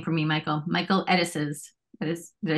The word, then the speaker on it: Edesess: Michael Edesess.